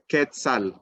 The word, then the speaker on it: quetzal: the resplendent quetzal folks this is how you say it quetzal no not no que and this is found